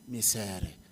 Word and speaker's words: Micere: and I realized that if you pronounce her name in my mother tongue you'll get it right misery you know that is